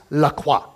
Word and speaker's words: Lacroix: seeing Lacroix Lacroix and finally Joshua looks at us and goes it's Lacroix so just so you know you've been saying it wrong this whole time and it